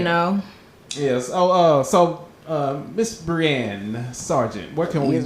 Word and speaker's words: Brianne: Twitter and Instagram, Brianne, which is, which is the phonetic pronunciation of my name.